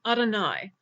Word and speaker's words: Adonai: name wrong in prayer we usually pronounce this name as Adonai which means my lord now I don't know